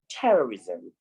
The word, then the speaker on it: terrorism: english language for example if i say or pronounce the word terrorism you can tell that the first syllable has so much emphasis on it and that is because the first syllable in the word terrorism is stressed do you understand so